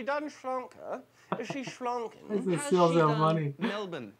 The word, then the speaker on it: Melbourne: shlonker is she schlong melbourne not mel byrne because it's pronounced melbourne melbourne and she only watches